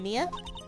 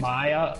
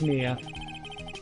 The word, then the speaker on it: Mia: Maya? Like, my... No, okay, whatever. Because it's spelled M-I-A. And Maya is M-A-Y... is M-A-Y-A.